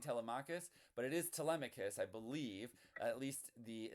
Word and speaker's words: Telemachus: I do believe it's tmicus.